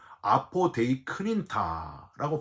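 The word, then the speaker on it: ἀποδεικνύντα: 여러분, 이 내세우느니라라는 단어가 헬라어로 아포데이크닌타라고 발음하는데요.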